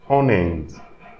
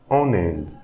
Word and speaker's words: en Inde: So here when I'm pronouncing en Inde, you can hear that there is an extra N. So this is also the liaison phenomenon.